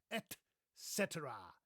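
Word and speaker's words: et cetera: By the way, there's no X in here. Do you see that? There's no there's no X. So, I don't know why people say etc.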